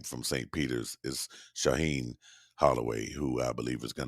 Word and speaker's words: Shaheen Holloway: i i'm thinking about it here i did mispronounce uh coach holloway's name from saint peter's is shaheen holloway who i believe is going to get another